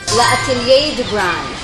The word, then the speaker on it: L'Atelier du Grain: Pronounce it properly nga. Mir Laat Atelier de Bran.